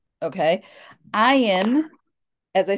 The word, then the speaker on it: Ayin: numerical value is 70 ion is a silent letter much like Olive which was the very first letter that we um we talked about so it has no sound of its own it sounds like whatever vowel it is paired with